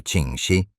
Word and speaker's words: Ching Shih: Comprendiendo que la burocracia tradicional y el orgullo masculino estaban arruinando su magistral plan de retiro, Ching Shih pronunciado Ching Shih, tomó una decisión verdaderamente inaudita.